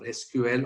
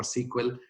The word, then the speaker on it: SQL: structured query language or sql or sql depending on how you want to pronounce it and this was again